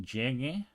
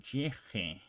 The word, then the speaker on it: llegue: If you see llegue with GU replacing the G, it is to maintain the hard G sound. Okay, so the reason why they're doing this is because otherwise, if you pronounce llegue without the U over there, it will be pronounced llege because of rules that we learned before. So the G before the E or the I is pronounced more like an H in English.